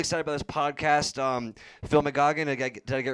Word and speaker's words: McGeogh: So McGeoghan. McGeoghan. Yeah, so Geoghan is phonetically Gagan if you were in McGeoghan.